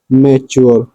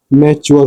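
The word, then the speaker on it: mature: इसको समझने का कि लास्ट में जब टी यू आर ई दिख जाए एक वर्ड को छोड़ के हो वह है मैच्योर इसको छोड़ के बाकी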